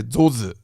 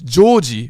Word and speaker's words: Joji: And they would say my name like this. They say zozu, zozu, zozu. It's Joji, but they say zozu, like that, right?